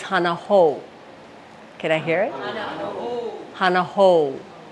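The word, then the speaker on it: hana hou: ouu sound is there so it's not hanaho it's Hanah ho can I hear it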